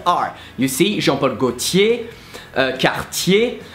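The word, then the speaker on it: Gaultier: you see Jean Paul Gautier kouchi the last R is not pronounced so this one is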